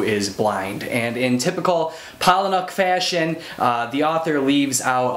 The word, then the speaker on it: Palahniuk: Chuck Palahniuk, Phoenix. Now, I've heard some people pronounce Palahniuk's last name differently than how I'm